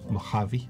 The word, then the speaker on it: Mojave: Mojave, or I don't know how to pronounce it. Mojave.